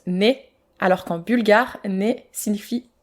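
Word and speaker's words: ναι: Grecs dans les églises car en grec oui se prononce né alors qu'en bulgare né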